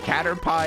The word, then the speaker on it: Caterpie: much for the follow-up caterpie is pronounced like pie made of catters how scary narnabel don't